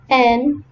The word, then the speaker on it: knife: The spelling of the word right is WRITE, and the spelling of the word knife is KNIFE, but their pronunciation is right and knife.